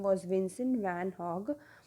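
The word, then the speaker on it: Gogh: name was Vincent van hog though it is G over here it has been pronounced at hog not goog okay so it's been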